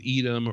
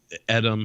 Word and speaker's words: Edam: there's a lot with edom or adam however you know you choose to pronounce it i you're american you